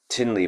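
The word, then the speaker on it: Thinley: So his name is Tinley but it's spelled T H I N L E Y Norbu N O R B U Rimpushe.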